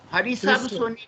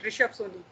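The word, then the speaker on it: Hrishabh: Harisab Soni, na? Harisab Soni. No, sir. H is silent. H is silent. Rishabh Soni.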